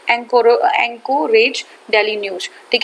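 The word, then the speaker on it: Anchorage: एंकोरेज daily news, ठीक है, एंकोरेज नहीं है, ये एंकरेज है, एंकरेज डेली न्यूज है, हाँ वेरी सॉरी, ठीक है, एंकरेज डेली न्यूज है, एंकरेज डेली न्यूज है, ठीक है। हिंदी में थोड़ा सा उसका प्रोनाउंसिएशन अलग हो जाता है, एंकरेज डेली न्यूज है।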